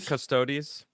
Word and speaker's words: Custodes: Do you know how to say this? Custodes. Custodes. Mm-hmm. Thank you. I think so. That's right.